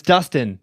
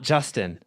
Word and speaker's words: Dustin: like, "It's Justin" or "It's Dustin, not Justin."